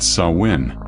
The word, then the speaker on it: Samhain: They celebrated Samhain, pronounced Samhain.